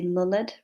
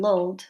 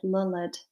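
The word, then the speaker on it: lullèd: So yeah, lulled It's because it's got that accent you see on the E, which is an old-fashioned way of showing that the syllable is wrenched. So instead of it just being lulled, which is how we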